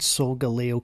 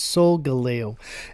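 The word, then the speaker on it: Solgaleo: And yes, I finally said Soul Galo correctly. I had to Google it on how to pronounce it, but it's Soul Galo.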